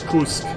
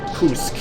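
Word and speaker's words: Пуск: How do you pronounce it? Kursk. Kursk. It means, like, launch. So, take Legion mark on my left wing, kind of south end corner of the town, enemy grounded at unknown. Kursk. P-U-S-K.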